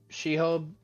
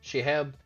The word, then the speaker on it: Shehab: Oh yeah, for anybody that does not know, Shehub, I already mispronounced it. Shehab, they are an author.